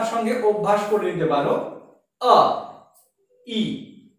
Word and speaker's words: ঐ: সংস্কৃতের ক্ষেত্রে কিন্তু ঐ এবং ঔ এই উচ্চারণটি সম্পূর্ণভাবে ভুল। তাহলে এর উচ্চারণটা কিরকম হবে? না ঐ এবং ঔ এই বর্ণটির উচ্চারণ হবে আই।